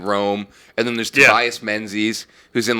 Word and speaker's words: Menzies: And then there's Tobias Menzies, who's in like every British production. Jared Harris. I think it's actually pronounced Mingus, isn't it? It's like spelled weird. Yeah, it's fucking spelled super weird.